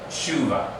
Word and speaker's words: teshuvah: In Israel, they don't say teshuvah. Let's reduce this down to what we normally mark it as a little possibly there, because there's a shava under the letter tav. They're going to say shuva.